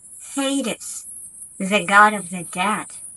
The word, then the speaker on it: Hades: Hades, the god of the dead. Повторяйте за мной. Hades, Hades.